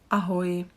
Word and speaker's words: ahoj: Ahoj. We've got another greeting. This is the informal. Hi. Ahoj. Here I would like you to focus on the y pronunciation.